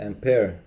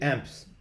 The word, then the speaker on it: ampere: per second is the ampere you're supposed to be uh yeah try to pronounce it with a french accent so you guys took